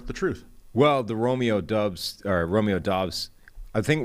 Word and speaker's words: Doubs: gonna go to dogs we're at dubs some people started off with doobs yeah that was awful no uh you started off i've seen pronunciations at dubs a lot of people are saying dobbs we're making the official pivot to dubs let's go to dobbs